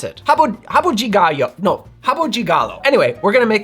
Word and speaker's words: Rabo de Galo: outside of Brazil but this is how you pronounce it Hab Habu jigal no Habu Gigalo anyway we're going to make this drink that